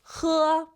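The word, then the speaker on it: 喝: It's going to be he. With your throat, guys. He from your throat.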